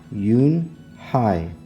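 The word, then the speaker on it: Unhei: "Your name is Eun-hee?" he asked her with his eyes open wide. Yunhai looked quickly at Mr. Kim, then turned to Joey. She nodded slowly. "Yes, it's pronounced Yoon-hai.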